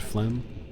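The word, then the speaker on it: phlegm: think it was flem, the word flem at one point. Like I was just convinced I I couldn't remember that it was a silent g so I was convinced that it was a silent b at the end like thumb.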